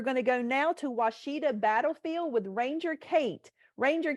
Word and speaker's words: Washita: I work at, actually, it's called Washita Battlefield. Washita is the Hollywood pronunciation of my wonderful park.